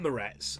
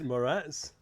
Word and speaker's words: Moretz: Now, Chloë Grace Moretz, I said, and you pointed out when you were doing the intro, it's not Moretz. How do you pronounce it? It's Moretz. Moretz.